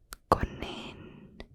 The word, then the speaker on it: konijn: So it's a bunny or a rabbit, and in Dutch it's konijn, konijn, konijn. So it has the IJ sound again, like in number 5.